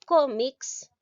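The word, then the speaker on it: cómics: va a tildar ejemplo la palabra comics es grave está terminando n se le está antecediendo a esta s la consonante ce por lo tanto si le tildó las reglas de las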